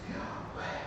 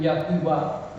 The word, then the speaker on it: Yahweh: Because the majority of Hebrew scholars agree that the pronunciation is Yahweh.